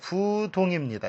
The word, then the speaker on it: 부동: 우리가 예를 들어 이것을 디귿이나 지읒 앞에서는 부로 읽히죠. 부동입니다. 이걸 불동이라고 읽지 않죠. 안이불 다음에 초성이 처음 첫 자리 음이 디귿이나 지읒이 오면 이것은 부로 읽힌다. 지금 디귿이 오죠. 동, 그래서 부동입니다.